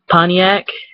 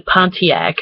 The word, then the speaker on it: Pontiac: michigan accent um where it's like pontiac it's actually pontiac but we don't pronounce the t like that's a very common one is like michiganders don't pronounce t like i like in the word pontiac i think i can't